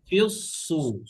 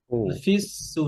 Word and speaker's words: في الصور: ونفخ في الصور সদ হেভি, সদ فإذا heavy, ফিউস সু, ফিউস, ফিস সু না, ফিউস, সদ ইস্তেলার হরফ, ইদবাকের হরফ, হ্যাঁ।